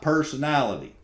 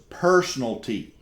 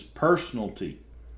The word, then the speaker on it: personalty: you that's misspelled y'all that is not personality y'all the term is personalty it's not personality it's personalty and it is spelled correctly now um y'all I'm